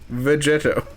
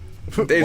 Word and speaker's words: Vegetto: It's actually spelled V-E-G-E-T-O. Vegetto. Vegetto. What? It's, in the ocean dub, That's weird. It's spelled Vegetto.